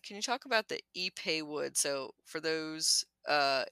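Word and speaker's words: ipe: you talk about the epay wood so for those uh it's I PE it's it's a weird pronunciation for the spelling you might might read it as iWood uh so epay wood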